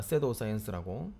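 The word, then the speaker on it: pseudoscience: 섀도우 사이언스라고. 요거도 유튜브에서 한 적이 있었으니까 나중에 그 부분 좀 찾아줄게. 이 의사과학, 그러니까 의사들이 하는 과학이 아니고 의사과학. P는 묵음이기 때문에 섀도우 사이언스라고 해. 이거 알아두면 되게 편해.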